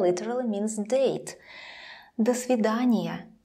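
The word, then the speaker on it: до свидания: really means date the svidaniya let's compare does after the svidaniya does after the svidaniya almost the same but it never sounds like dough and when the word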